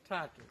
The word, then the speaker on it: tatu: Tatu.